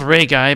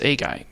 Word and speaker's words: 例外: 外例外例外 Ah, the air is not spoken out, so it's a guy. Right? 例外例外例外例外 Yeah, a guy. So that's how you say it. It's not Ray guy, but it's a guy.